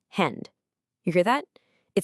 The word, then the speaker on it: Hand: A D starts to sound like a T. So the word for hand is pronounced hend.